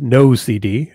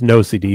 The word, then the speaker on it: NOCD: and ocd so um it's pronounced no cd a lot of people ask all the time so it is pronounced no cd but for an acronym